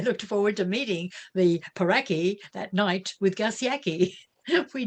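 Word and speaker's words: pauraque: in rio grande city with a name like peraki which rhymes with yaki i looked forward to meeting the peraki that night with garciaki we did it was nearly invisible but tireless gus picked up a peraki at midnight in his flashlight now the favorite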